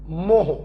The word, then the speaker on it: mho: या स्पेलिंग की बात करें तो ओम की स्पेलिंग है OHM, उसको उल्टा कर दो मोह, MHO, या इसी को बच्चों हम लोग साइमन भी बोलते हैं और कैपिटल S से डिनोट करते हैं, ठीक।